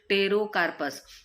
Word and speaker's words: Pterocarpus: Drug है वो है टेरोकार्पस। ओके, एंड टेरोकार्पस की स्पेलिंग क्या है, PTEROCARPUS। ठीक है, P is silent, that's why its pronunciation is टेरोकार्पस।